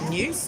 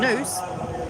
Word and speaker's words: noose: the tyburn tree was a hangman's new news no it wasn't it was a noose uh to rhyme with moose like canada's national horse name um hi andrew it